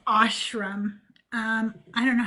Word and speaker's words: ashram: They would go on these retreats that they called ashrams, and they might pronounce it ashram, okay, but it's ashram.